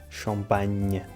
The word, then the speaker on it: champagne: Por exemplo, a palavra champanhe. No fundo, é a mesma palavra em ambas as línguas e em ambas se pronuncia nhe, só que em português escrevemos NH, champanhe, e em francês eles escrevem GN, champagne.